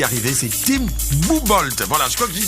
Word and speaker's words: M'Boomboldh: Mais Mbumba Mbodou, on dit Mbumbold en pounou. Ah, Mbumbold.